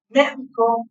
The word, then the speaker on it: médico: O sea, la palabra médico, médico, médico puede llevar tilde en dos lugares diferentes y significa cosas diferentes.